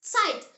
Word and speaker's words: Zeit: So, whenever you see the Z in German, think Ts, not like Z like in English. The example word is Zeit.